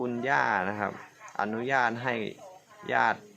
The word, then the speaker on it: ญาติ: อา ตาย อ้า นะ ครับ แล้ว ก็ ถ้า ญาติ พี่ น้อง นะ ครับ ยอ อา ติ ตอน ขั้น ถึง ๆ ฉัน พยาติ ที่ นอน ครับ แต่ อ่าน ว่า ญาติ พี่ น้อง ครับ น้อง ๆ ไม่ โทร น้อง